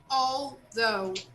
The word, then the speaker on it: although: know although here guys although even though we spell this word with letter a we make a sound of all when we speak okay although oh oh yes